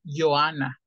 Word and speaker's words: Johanna: Nada más la J la J los alemanes la pronuncian como Y entonces ya ya Vale gracias ya dicho por ejemplo nombres como estos Ellos dicen Johanna Johanna en alemán así